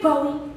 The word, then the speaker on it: Bowie: My sister said it's Bowie, but it's spelled like Bowie. Like David Bowie, but it's pronounced Bowie.